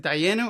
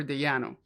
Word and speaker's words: Dayenu: now it's always like, is it Dayenu or Dayanu? But yeah, I think it's that Dayanu sounds a little more right.